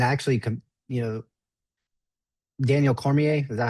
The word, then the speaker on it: Cormier: these guys and I actually, you know, Daniel Cormier, is that how you say his name? Yeah, Daniel Cormier.